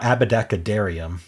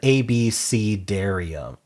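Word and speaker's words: abecedarium: Now how is it pronounced? pronounce per pronunciation. A Oh, it's an ABC. Darium. Oh, that's that's it. It's just ABC Darium.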